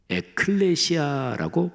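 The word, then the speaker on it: ἐκκλησία: 교회란 단어는 신약 성경의 언어인 헬라어로 에클레시아라고 발음합니다. 자,이 단어는 두 단어가 합쳐진 말입니다.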